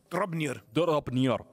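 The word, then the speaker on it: Draupnir: Dropnir. Hay que pronunciarlo así, yo estoy pronunciando en antiguo nórdico.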